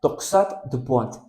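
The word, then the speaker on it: torsade de pointes: Ahora, hay una variante morfológica que en francés se pronuncia toxat du point, que en español significa torcedura o torsión de los puntos.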